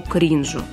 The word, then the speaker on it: кринжу: предпочтение емкому и экзотичному кринжу и Да ударение в этом слове всегда падает на первый слог соответствующий глагол у нас